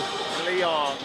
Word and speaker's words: Leong: you have to tell me, because I'm butchering your name here, please pronounce your last name for me properly. Leong.